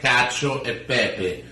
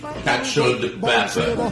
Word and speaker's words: cacio e pepe: Today we will show you how to make the perfect cacio e pepe, or like Americans say, cacio de pepe.